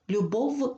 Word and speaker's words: любов: має пари і тому неправильно буде вимовляти слово любов звуком ф любов вимовляється чітко адже в ІФ -